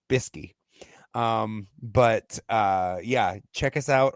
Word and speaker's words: bsky: That's the way it's spelled, BSKY, Bisky.